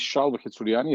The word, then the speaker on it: Shalva: this so hi to everybody my name is Shani as C pronounce exactly the correct way thank you Kathleen